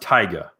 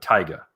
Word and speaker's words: Taiga: i believe it's pronounced taiga like tiger but taiga and tyga um yeah